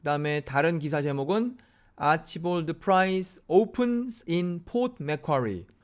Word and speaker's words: Archibald: 않습니까 그래서 혹시 걸 아치 볼트 라고 있는 것은 아닌가 하고 좀 호주 사람들이 발음한 걸 몇 개 봤어요 그랬더니 일관적으로 아치볼드 라고 발음 하더라구요 그래서 복잡하게 생각하지 말고 그냥 편안하게 아치볼드 라고 하면 되겠구나 그런